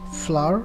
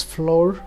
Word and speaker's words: flour: the old form of English the word as flour which is quite often pronounced as floor which is at the incorrect form of pronunciation